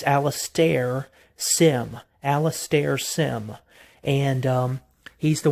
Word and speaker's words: Alastair Sim: like I said, I believe his name is pronounced Alastair. It's Alastair Sim.